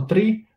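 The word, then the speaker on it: three: 3 wręcz mówi że mamy to wymawiać jako tree tak jakbyśmy mówili drzewo i czasami jak tylko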